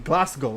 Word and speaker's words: Glasgow: Uh, you don't pronounce the W in Glasgow.